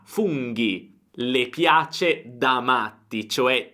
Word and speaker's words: funghi: Attenzione, funghi, GHI, se no senza l'H sarebbe fungi, ma funghi.